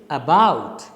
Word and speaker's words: about: the correct pronunciation is about so the second syllable is stressed the first one is unstressed so this word about